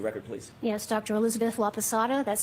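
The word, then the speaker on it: Laposata: Elizabeth Laapasada. That's spelled L A P O S A T A. Dr. Laasada, what do you do for a living?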